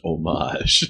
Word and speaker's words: homage: Maybe this was too good of an homage to its source material. And its source material... John, this movie was French-Canadian. It's pronounced homage.